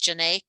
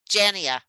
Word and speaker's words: Janae: Because I pronounce, your name is actually pronounced Janae. Yes, correct. Okay, because I've been pronouncing it Jania in my mind.